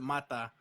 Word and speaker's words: Mata: My family pronounces it Mata.